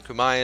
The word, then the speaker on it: Khmer: This means that my 57 development vassal Arakan and my 77 development vassal Khmer, or Kumai as I've heard it pronounced, Cambodia basically, they are much smaller than me.